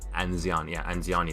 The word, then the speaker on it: Anziani: Anziani is how you pronounce it.